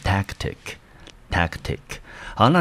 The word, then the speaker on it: tactic: tactic，好，我们看音节，第一个音节呢，母音在 a，我们发成 a 的音，好，所以整个音节念成 tic，t-i-c 的 i 念成短母音 e，好，所以这个字呢，总共有两个音节，重音落在第一个音节，我们就念成 tactic。好，那 tactic 呢，在这边呢，它是一个可数的名词，中文翻成策略或者是手法。来，我们看它的英文解释：a specific way，好，一个特定的方式，什么方式呢？Of doing something，做某一件事情特定的方式，它的目的 in order to，好，它的目的呢是为了达成一个目标。那么我们中文就翻成策略或者是手法。好，那我们知道呢，相对于策略还有另外一个字也是我们蛮常看到的，好，这个字呢念成 strategy。